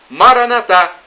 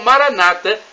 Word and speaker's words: Maranata: E do aramaico, dialeto de Jesus, eu clamo, Maranatá, como dizemos nós católicos, ou Maranata, com a tônica na penúltima sílaba, como dizem nossos irmãos separados, os evangélicos ou protestantes.